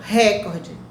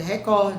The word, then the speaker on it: recorde: Ou seja, então muitas pessoas pronunciam recorde. É barbarismo. Não é recorde, é recorde. Se fosse recorde, teria um acento, proparoxítono.